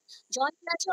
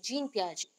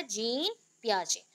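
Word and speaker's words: Jean Piaget: आपको बोल रही हूँ, बट प्रोनाउंसिएशन इधर जीन पियाजे, नॉट जॉन, जियान, ऐसा कुछ भी नहीं है, जीन पियाजे।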